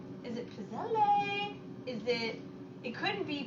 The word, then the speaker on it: pizzelle: for now uh patty it's pronounced pit cell with a ts sounds like pizza pizza ha haha thank you